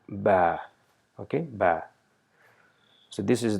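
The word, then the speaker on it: باء: lips and pronouncing ba so it is pronounced by joining the weight part of the top and bottom lip of our mouth and saying ba okay ba so this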